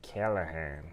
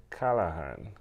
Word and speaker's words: Calahan: Now, Americans say A is like Calahan. Yeah. And in Trinidad, I would say Calahan. I'm good with either one.